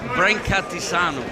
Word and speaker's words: Brancatisano: Anthony Brancatisano.